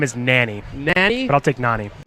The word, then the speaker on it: Nani: Let everybody know the correct pronunciation. My name is Nani.